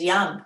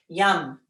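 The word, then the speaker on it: Yam: The seed sound for the heart is Ram. No, it is Yum. Sorry, Ram is your third chakra. That was last week. Yum. Whether you spell it Y-U-M or Y-A-M, I don't care.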